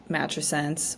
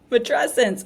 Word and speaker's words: matrescence: that you know uh a word like matense which I still think I'm saying it wrong um is out there uh said it wrong for a long time matrescence oh my gosh adolesence mesent adolescence matrescence thank you I will still probably